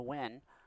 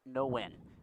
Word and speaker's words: Nguyen: 2-1 on the win, whose last name is spelled the same as Brandon Nguyen, but pronounced differently. Brandon's last name pronounced Win, Ian's last name No Win.